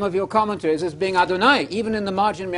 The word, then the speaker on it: Adonai: You know Adonai. It rhymes with El Shaddai, El Shad.